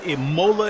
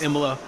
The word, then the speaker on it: Imola: we are at EMA which I've called Imola in the past but I believe it's pronounced EMA um as my friend ham likes to get on me about um